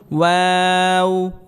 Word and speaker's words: واو: নুন نون নুন نون ওয়াও واو ওয়াও واو ওয়াও হরফটি ঠোঁট গোল করে উচ্চারণ করতে হবে, অর্থাৎ অয়ের ওপর জবর জের পেশ হলে ওয়াওকে সর্বাবস্থায় ঠোঁট গোল করে উচ্চারণ করতে হবে।